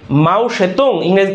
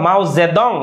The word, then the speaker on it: মাও সেতুং: মাও সেতুং এর নেতৃত্বে মাও সেতুং এটাকে বলা হয় মাওজেদং ইংরেজি উচ্চারণ হয় বুঝা গেছে তার নেতৃত্বে ক্লিয়ার ক্লিয়ার বুঝতে পেরেছেন ক্লিয়ারলি বুঝতে পেরেছেন আমাকে বলেন বুঝতে পেরেছেন?